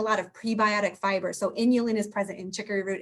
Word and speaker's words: inulin: source of something called and i'm being very careful with how i say it because it sounds like something else inulin which is spelled just like insulin but without the s okay it's a very